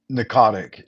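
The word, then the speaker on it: Pnakotic: Notic. The P is silent.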